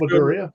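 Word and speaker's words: Madureira: And the cover penciler was I can't pronounce that last name. Maduria. Oh, it's Maduria.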